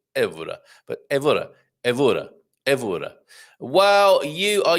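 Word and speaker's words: Évora: And yes, Carl, second to last syllable stressed, unless an accent mark.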